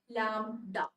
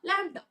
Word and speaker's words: lambda: How is lambda pronounced? Okay, ഞാൻ പറഞ്ഞല്ലോ അല്ലേ, lambda. Okay, you know how to pronounce lamb? Is it lamb എന്ന് പറയാറില്ലേ? ആണോ? അപ്പൊ അതിന്റെ അടുത്ത് ഒരു ഡ, lambda അല്ലേ?